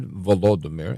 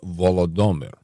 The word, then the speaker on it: Volodymyr: listeners that said, no, it's not Volodymyr, it's Volodymyr.